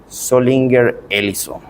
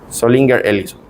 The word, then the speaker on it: Zollinger-Ellison: perforación, y ese síndrome se llama síndrome de Zollinger-Ellison. Zollinger-Ellison. Se escribe con Z.